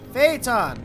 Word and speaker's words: Phaeton: Phaeton! That's how you pronounce it.